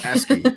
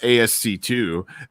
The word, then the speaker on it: ASCII: bit like it's letters and numbers and i mispronounced it in my video and brian vines was like hey dummy it's asking not asc2 and uh i'm like i should have known